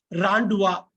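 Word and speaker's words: rendezvous: ஞாபகம் வச்சுக்கிட்டு அதை பண்ணிக்கோங்க இதை இது எடுத்துக் கூட்டி உச்சரிக்கிறதுக்கு ராண்டுவா ராண்டுவா ராண்டுவா ராண்டுவா ராண்டுவா மீட்டிங் பிளேஸ் ராண்டுவானா சீக்ரெட்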